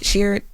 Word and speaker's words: Sheard: Kiara Sheard, am I saying her last name right? Sheard. Yes.